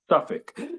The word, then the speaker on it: Suffolk: How do you pronounce it? Suffolk? Suffolk.